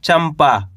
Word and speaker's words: चंपा: तो मिलके बन जाएगा चंपा। क्या पढ़ेंगे? चंपा। अब दोस्तों इस शब्द के अंदर अपन ने आधा मा का उच्चारण निकाला है। कैसे पढ़ा अपन ने इसको? चंपा। अब आपको कैसे पता चलेगा?